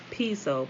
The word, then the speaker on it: Piso: The New Testament, the church, and Christianity were all the creation of Calpurnius Piso, pronounced Piso, P-E-S-O.